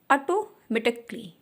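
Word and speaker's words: automatically: इसी तरह से जब ए के बाद में डबल एल वाई आता है वहाँ पे ए का साउंड साइलेंट हो जाता है।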